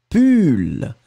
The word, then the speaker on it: pull: Et le deuxième, on le prononce u, pull.